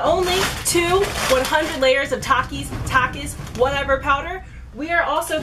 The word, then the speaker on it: Takis: The top four comments on that video are, it's pronounced Takis, not Takis.